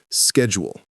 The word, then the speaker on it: schedule: Word 3 is schedule. How most people say it is schedule, American style. How to say it is depends on context, but in professional American English, it's schedule. But if you're in UK English, it's schedule. The key, don't add extra syllables. It's 2 syllables, not 3.